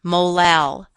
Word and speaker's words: molal: units of ethylene glycol notice that this term is pronounced molar the Little M is pronounced molal a molal solution of